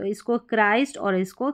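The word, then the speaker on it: Christ: इसको क्रिस्ट नहीं पढ़ना है। आपको पढ़ना है क्राइस्ट और इसको क्रिश्चियन पढ़ेंगे। यहां पर जो टी जो है यह च साउंड प्रोनाउंस कर रहा है। तो इसको क्राइस्ट और इसको क्रिश्चियन।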